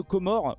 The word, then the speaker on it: Comores: Ça se prononce bien Comores.